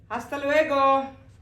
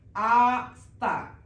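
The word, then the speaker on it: hasta: ഇനി നമ്മൾ എപ്പോഴും കേൾക്കുന്നതാണ് അസ്തലുഗോ അസ്തലുഗോ അസ്ത always started ആസ്ത ഡു not pronounce H H always silent just like A സി ഓല എച്ച് ഇവിടെ സൈലന്റ് ആണ് നമ്മൾ ഓ തൊട്ടാണ് സ്റ്റാർട്ട് ചെയ്യുന്നത് അതുപോലെ അസ്ത ലു എഗോ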